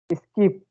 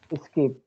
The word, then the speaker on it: skip: Skip, So it's skip. skip, Don't put much pressure on s. Skip. Just easily.